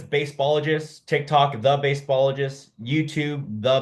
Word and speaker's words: Baseballogist: On Instagram, it's Baseballogist, TikTok, The Baseballogist, YouTube, The Baseballogist, Facebook, something baseball. It's either the or baseballogist. Baseballogist is spelled baseball, Baseballogist. It's like scientist, but baseballogist.